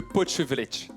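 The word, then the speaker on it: potjevleesch: Alors on dit le potchevlech, mais on peut l'appeler aussi le potch, et c'est plus facile.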